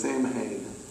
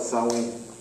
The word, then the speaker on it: Samhain: it's pronounced but yeah everybody thinks that says samhain that's how it's spelled but it's actually pronounced software and that's how you pronounce it south wing but it's spelled sam wayne said let's just call it sawing and guess when they celebrated now remember beltane